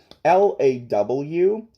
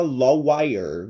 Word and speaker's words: lawyer: Lawyer, bem diferente de como se escreve. Como escreve lawyer? L-A-W-Y-E-R. Tu pensa que isso aqui se fala lawyer. É lawyer.